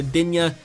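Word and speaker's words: Luka Đin: Luka Din or Luka Dinya, as you guys want me to pronounce it. I believe it's actually pronounced Din, but I will pronounce it Dinya for you guys.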